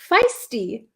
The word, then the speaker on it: feisty: um can you pronounce feisty feisty feisty it's like a long eye feisty we had a lesson